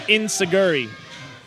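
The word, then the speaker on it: enzuigiri: there you go with the enoi or As Americans pronounce it inuri well and now Zack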